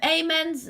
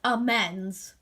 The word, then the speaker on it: amends: simply because um um amens that is not how you pronounce it. It's pronounced amends.